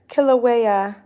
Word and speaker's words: Kilauea: butcher Hawaiian words I want to know them Kilauea thank you I try but that was when I have not um pronounced before I appreciate you the volatile and